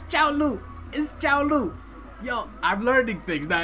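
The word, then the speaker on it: Cao Lu: Kaolu and Jay. It is not Kaolu. It's Chaolu.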